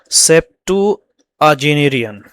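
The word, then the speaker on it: septuagenarian: किस चीज़ पर, अभी एक नया वर्ड आ गया, फॉर अ सेप्टुअजेनेरियन, मतलब क्या मतलब है इसका, प्रोनाउंसिएशन है दोस्तों सेप्टुअजेनेरियन।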